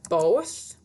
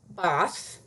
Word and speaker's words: both: It doesn't say bath. If you cook with chicken broth, that's a short O vowel sound. But both is a long O vowel sound. It gets tricky, so this is one you really need to practice.